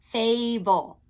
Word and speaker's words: fable: Okay, put a dot between fay and bull. And if you notice, the A is open. It does not have a consonant next to it in that syllable. So it is long.